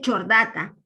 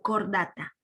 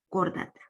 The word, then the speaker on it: Chordata: No se dice chordata, se lee cordata. CH es la Q, cordata.